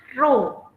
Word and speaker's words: rho: Massa jenis disebut juga dengan rho ya, dibacanya rho.